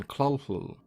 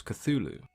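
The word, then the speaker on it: Cthulhu: an alien tongue Lovecraft himself used several different pronunciations over the years with the most common being CL but as you can imagine talking in an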